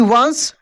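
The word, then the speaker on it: once: या वाई हो तो सी के बाद ई है तो स पढ़ रहे हैं हम लोग कैसे वंस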